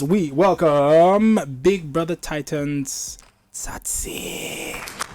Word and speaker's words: Tsatsii: hands together as we welcome Big Brother Titans satsi I may have mispronounced your name I'm so sorry and you